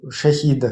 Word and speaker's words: шахид: частности этого этого аятуллу Шахида, который шахетом стал, его и Эрдогана примерял там аятами, приводя... Правильное произношение шахид, шахид, шахид.